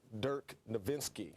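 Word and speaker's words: Dirk Nowitzki: help from mike finley with nash and nerd dirk nowinski got that german pronunciation right they're excited and he's backing up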